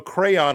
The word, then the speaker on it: crayon: Um, so crayon, I think, is the is the proper pronunciation. And but I say crown like like a like a king would wear a crown.